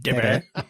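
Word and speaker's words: Debi: I believe it should be pronounced Mm. Debbie. That's how it's spelled.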